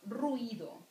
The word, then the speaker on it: ruido: and i are without so ruido it sounds like brito you just say it in in one syllable good and you can